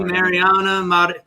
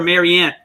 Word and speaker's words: Mariana: Thank you, Mariana. Why do I always call her Marianne?